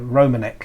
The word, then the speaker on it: Romanek: do um do tend to have their own pronunciations of of European names that Europeans want yes might say them differently so romanik he calls himself and it's aluminum well actually